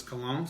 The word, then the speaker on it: Cologne: It's spelled out Cologne, like that's how it sounds, is Cologne. So I think I was completely wrong the first time.